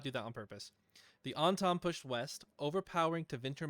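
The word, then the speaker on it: Antaam: how to save it say it correctly onom the onom not the on time like the onom I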